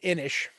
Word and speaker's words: Inis: game is it's called inish and yes you pronounce it with ish at the end and it's basically uh